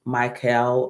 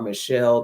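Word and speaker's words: Michal: to give King David um Mel or Michelle, depending on how you want to pronounce that word, M I C H A L, and um decided that instead he wanted to take David's life.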